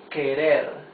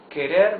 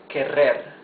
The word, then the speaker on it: querer: words you see that the r is the soft sound of the r because it's not at the beginning of the word and because it is